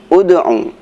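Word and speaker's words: ادْعُ: Seperti bacaan ud'u ila sabili rabbik, huruf ketiganya adalah ain. Ain dibaca dhammah, maka dibacanya ud'u.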